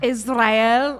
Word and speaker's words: Israel: You have to roll your tongue. Israel.